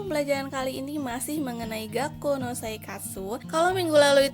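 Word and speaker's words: 学校: Ditulisnya Gakko dan dibacanya Gakko.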